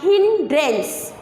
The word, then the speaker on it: hindrance: So this is pronounced as hindrance. So hindrance ani pilustam dini. Why? Because e is silent here, just e is silent.